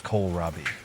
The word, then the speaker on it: Kohlrabi: Robie is pronounced as coal rabie the emphasis is on the first syllable coal followed by ra and